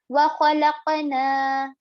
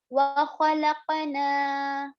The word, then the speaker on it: وَخَلَقْنَا: And now the next one here on noon, there is standing fatha, as in we are going to extend it for about 2 counts, as in 2 haraka. Also, standing fatha is equivalent to alif madda. So just how we pronounce the alif madda, we are going to also pronounce the standing fatha exactly the same.